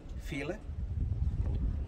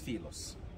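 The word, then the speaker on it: Philae: this island the island what they called it feel it it's a wrong pronunciation for the name the name originally it's filos in the edge the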